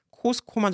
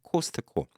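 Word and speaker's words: Costco: 예, 미국에서 만든 미국 브랜드이기 때문에 미국식으로 읽어주는 게 맞다고 생각해요. 카스코는 원래. 근데 트 발음까지는 원래 안 나오는 건데 그 트 발음이 너무 세게 나오니까 그게 좀 너무 어색하지 않나 이런 생각은 듭니다. 그래서 저는 한국에서 뭐 카스코까지 정확하게 적은 건 아니라도 코스코만 적어도 좋은데 기자들이 자꾸 T자를 집어넣어요. 예, 코스트코.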